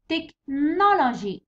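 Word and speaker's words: technology: تكنولوجي تحط على نو. تكنولوجي اتس نو.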